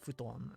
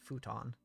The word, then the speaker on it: futon: listening to the pronunciation in the game futon is the um correct pronunciation but in english we would know it as futon which is not the same thing this is a set